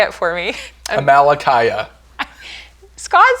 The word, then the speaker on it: Amalickiah: Amalekiah. Scott said it wrong, and now it's in my head wrong. Yeah, Amalekiah.